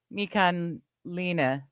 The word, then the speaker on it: Michelina: If it's an Italian name, it's pronounced Michelina. Okay, Michelina. Okay. So just like the food. There's a food brand, Michelina's.